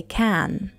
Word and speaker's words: can: When can occurs at the end of a sentence, pronounce it with a strong "a" sound, as in cat. Yes, I can.